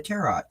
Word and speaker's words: tarot: the Terror ride um is that not how you say it yes that is that is one way to say it you could also say tarot and you know sound fancy schmancy hero okay and um